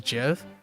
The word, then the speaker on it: GIF: GIF. Yep. Precisely in reference to the peanut butter brand.